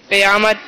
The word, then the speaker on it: قیامت: قیامت. درست تلفظ کیا ہے؟ قیامت. کیا آئے گی؟ قیامت. قیامت نہیں ہے. کیا آئے گی؟ قیامت. قیامت. قاف کے نیچے زیر ہے، قاف کے اوپر زبر نہیں ہے، تو جواب درست ہے.